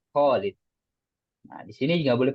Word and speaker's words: Khalid: Yang Khalid itu kho-nya jangan lupa panjang. Khalid.